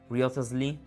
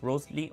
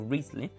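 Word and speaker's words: Wriothesley: two options which is Harry Riotasly. Oh, pronounced Rosley or Reley or William Herbert.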